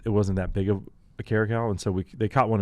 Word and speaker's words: caracal: Eastern Cape is the Caracal, which is like Caracal. Caracal. It's a lynx species. So it's like our bobcat or our spell it.